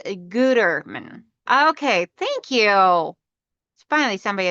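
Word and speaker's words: Gütermann: Mario said it's pronounced Gutterman.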